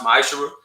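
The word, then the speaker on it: ma'aser: verse 8 through 10 means 10th and hebrew is pronounced maisha 10 of every penny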